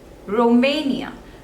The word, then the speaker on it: Romania: is on the seconds label next is Romania Romania there are three syllables and the stress is on the second